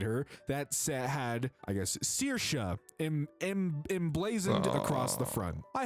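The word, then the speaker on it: Saoirse: Sayers is the name. It's my name. Sayers? Pronounced Searsha.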